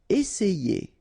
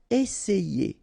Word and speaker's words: essayer: Essayer. Remember, double S, really strong S, and then it opens the E. Essayer, essayer.